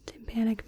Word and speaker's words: tympanic: The tympanic membrane sounds like the word for the drum timpani, and they share the same root, tympanic, timpani.